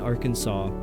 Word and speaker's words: Arkansas: Gaelic Arabic pacific science conscious scientific to but hour door secur gas alas in Arkansas. I hate Arkansas. I hate pronouncing that. Why is there an S?